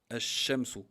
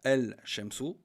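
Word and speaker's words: الشمس: Le shin, ash-shamsu, d'où le nom, al-huruf ash-shamsiya, ash-shamsu. On ne dit pas el-shamsu ou ash-shamsu, on prononce pas le lem, on prononce la shadda.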